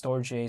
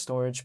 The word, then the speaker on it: Storj: It's pronounced sometimes Storj, sometimes Storage, but because it's spelled s t o r j, sometimes people call it Storj.